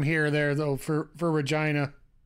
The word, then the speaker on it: Regina: home to the famous Regina which rhymes with your favorite favorite name sorry it's the common